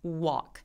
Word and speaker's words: walk: 근데 W는 U로 시작하죠. 이렇게요. 네, 그래서 walk보다는 walk 이렇게요. 그래서 Y하고 W들이 배우기님이 말씀하신 것처럼 시동이 걸리는 발음이기는 한데 Y는 E로 W는 U로 시작합니다. walk 이렇게요.